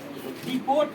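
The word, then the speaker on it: depot: अब देखो इसका एग्जांपल देखो इसका एग्जांपल देखो डिपोर्ट होता है क्या होता है डिपोट डिपोर्ट डी ई पी ओ टी डिपोट क्या हो जाएगा?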